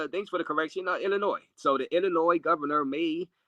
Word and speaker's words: Illinois: So, uh, uh, the S is silent in Illinois's raise. Oh, Illinois. All right. So, Chicago, Illinois, JD. Yeah. All right. Thanks for the correction. Illinois.